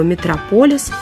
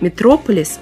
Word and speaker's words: Метрополис: версии связаны некоторые путаницы ударение существительным Метрополис оно падает на второй слог Однако в русском слове митрополия ударение традиционно на третьем слоге и митрополис который по сути то же самое Это ударение сохранил Так что нет никакого метрополиса есть Метрополис а Если возникнут сомнения вспомните про Мегаполис и ударение сразу станет на свое место и на этом У